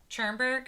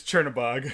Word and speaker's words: Chernabog: I do love the Chernberg. How do you say? Chernberg? No, that's the mayor of Schenectady. How do you say his name? That's Chernabog.